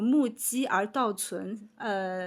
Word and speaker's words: 目击而道存: Et en fait, le sens original en chinois, ça se prononce comme mu ji er dao cun.